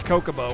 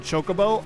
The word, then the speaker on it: chocobo: to not like ff10 i pronounced it kokobo when i was a kid and then when ff10 had the voice acting and said chocobo i got unreasonably upset